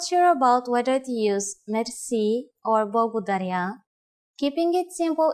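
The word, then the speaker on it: мерси: Merci. Merci. Merci is a loan word from French, but it is pronounced with the typical Bulgarian hard R.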